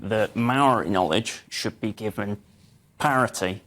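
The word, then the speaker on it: mauri: the idea of um it's again pronounced Maori with a shorter vowel sounds it's spelled m-a-u-r-i it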